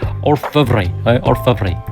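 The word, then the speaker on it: Orfevre: I think the way you pronounce the name is Orvy.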